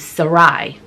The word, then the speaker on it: Sarai: He married a woman named Sarai. So I guess that's the pronunciation before her name gets changed to Sarah. God later changes her name.